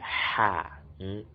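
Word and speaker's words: حاء: And the sixth, which is this, is pronounced to be ha. We'll bring out air from our mouth, ha, as in happy, happy.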